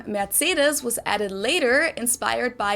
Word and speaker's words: Mercedes: most americans call this mercedes society german we pronounce it mercedes mercedes mercedes versus mercedes med cedars okay my accent